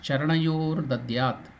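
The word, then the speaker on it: चरणयोर्दद्यात्: Om Om Hrit Padmasanam Dadyat Om Hrit Padmasanam Dadyat Sahasrarachyutamrutaihi Padyam Charanayoho Dadyat. Together, when you chant it, it becomes Charanayor Dadyat.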